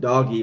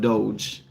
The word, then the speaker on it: DOGE: people have seen uh they pronounce it doggy but it's not doggy it's called Doge and it's a government